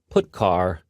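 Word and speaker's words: putchar: these three are the most popular they are pronounced print F put car and puts each function is designed to send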